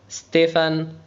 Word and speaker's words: Stéphane: son frère يعني أخيها ستيفان اسمه ستيفان. البي اتش تنطق ف ستيفان. E accent grave تنطق اي frère. E accent aigu تنطق اي ستيفان.